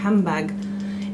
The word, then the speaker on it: handbag: Par exemple, le mot handbag, il y a une élision, on ne prononce ni le N ni le D de handbag, et on fait une assimilation, en fait on prononce le M, ça fait handbag.